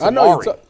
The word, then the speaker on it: Amari: it Amari Darren is doing it is Amari Amari D Marcado yeah I it was was interesting